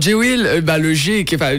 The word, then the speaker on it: GWILL: Alors J-Will, mon nom de scène s'écrit J-W-I-2-L, ouais. Et le G est pour. Et Will, c'est parce que